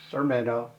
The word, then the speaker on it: Sermeno: to meet them hi my name is sermeno pronounced sermeno and I am a